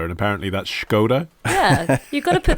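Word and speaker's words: Škoda: It reminds me, I did a voiceover once for Skoda, and apparently that's Skoda.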